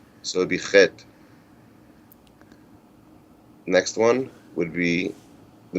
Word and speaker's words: Chet: The eighth letter is Chet, which I said, this is the hard letter to pronounce.